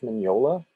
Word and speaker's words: Mignola: This is Mike Mignola. Mignola, by the way, is spelled M-I-G-N-O-L-A. The G and the N are spelled like it's pronounced like an N-Y.